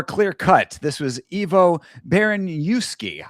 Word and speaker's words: Baraniewski: This was Ivo Baraniewski. I keep saying Baranchevsky, but it is Baraniewski, I believe is our Baraniewski.